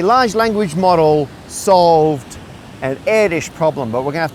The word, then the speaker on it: Erdős: Paul Erdős, yes, it's pronounced like that, was a prolific mathematician from